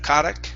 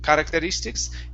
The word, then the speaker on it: characteristics: um next one here is characteristics instead of karak characteristics characteristics characteristic okay give me a good r